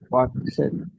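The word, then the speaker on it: walk: Loss, thanks, ten, ওয়াক, হাট, স্যার হাঁটা যে আছে হাঁটা, এটাকে ওয়াক। ওয়াক, এল উচ্চারণ হবে এল, না, ওয়াক। ওয়াক, ওয়াক, ওয়াক, এল উচ্চারণ হবে না, ওয়াক, ওয়াক।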